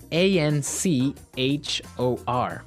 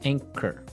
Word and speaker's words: anchor: anchor now it's spelled a n c h o r right but you don't pronounce the CH as you normally would right another one of